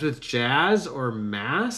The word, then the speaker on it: Maz: Maz Canada ma mazanada Canada mass Canada I'm so bad at pronouncing things you all probably know by now. Uh but mass not ma it's mass.